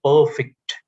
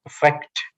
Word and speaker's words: perfect: If you pronounce this word as perfect, it is an adjective. But if you pronounce this word as perfect, it is a verb.